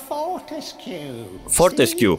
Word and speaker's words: Fortescue: Fortescue, λάθος. Προφέρεται όλο το τελευταίο.